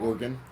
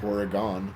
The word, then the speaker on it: Oregon: of yeah yeah yeah how do you say that one organ organ yeah like an organ in your body I guess it is Oregon yeah so if we're